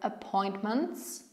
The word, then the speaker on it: appointments: Her schedule, her schedule, her appointments, her appointments, her appointments. To ty w środku również jest nieme.